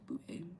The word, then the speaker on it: Bouvet: Am I pronouncing that right? I feel like I am. Oh, Bouvet. It's Bouvet.